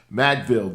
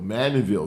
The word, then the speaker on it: Mandeville: was like uh wow i was just madville dolph as they called and uh maddenville mandeville dolphins that's the correct way to saying it and they had a